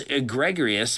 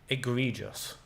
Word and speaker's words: egregious: That's not how you pronounce that. The acne looks egregorous, bro. Eggregorous. Egregious. He said egregious.